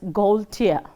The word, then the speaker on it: Gaultier: It is pronounced as Gaultier. So, you know Gaul, then you break it the other one as Tier.